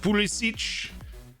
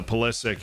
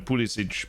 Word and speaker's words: Pulisic: So Pulisic is how he pronounces his name. I'm aware of the fact that if, you know, his great-grandfather was still in Croatia or whatever, then it would have been Pulisic, but it's Pulisic now.